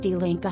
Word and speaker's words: Die Linke: In Germany, the left-wing TikTok queen and member of parliament, member of the Bundestag for the left-wing party Die Linke, pronounced Die Linke, Heidi Reichenach, refreshingly says it is in our German DNA to be anti-fascist.